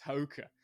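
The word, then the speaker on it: Haake: older dudes it's funny to look at Thomas hauka I learned how to pronounce his last name it's Hoka and Thomas is I mean he looks like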